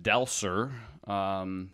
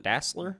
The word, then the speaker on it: Dassler: that this cat Adolph del Sur he is will sir is that like Dassler Dassler okay I set it incorrectly your your I am